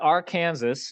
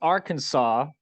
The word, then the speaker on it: Arkansas: Old State of Arkansas not our Kansas even though it's spelled or Kansas um but it's Arkansas so to throw that W in there even though there's no W um so uh Arkansas